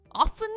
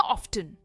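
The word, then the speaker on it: often: Well, दोनों pronunciation सही है। आप इसे ऑफन भी कह सकते हैं या ऑफ्टन भी कह सकते हैं। दोनों प्रोनाउंसिएशंस आज की इंग्लिश में यानी मॉडर्न इंग्लिश में एक्सेप्टेबल है।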